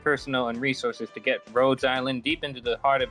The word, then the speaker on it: Rhodes Island: Rhodes Island. It's like Rhode Island, but just with an S.